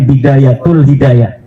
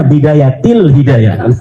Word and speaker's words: Bidayatil Hidayah: Kenapa ada huruf jer B katanya dibacanya Bidayatul Hidayah? Harusnya Bidayatil Hidayah.